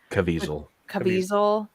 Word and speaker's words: Caviezel: Caviezel.